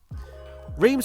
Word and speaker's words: Reims: It's to talk about the historical track of pronunciation inbound, Reims. Reims was an 8-kilometre long racetrack with an overall